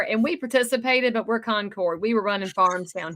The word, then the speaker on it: Concord: No, it's Concord. Yankees say Concord. They have their little towns up there from the Revolutionary War, and we participated, but we're Concord.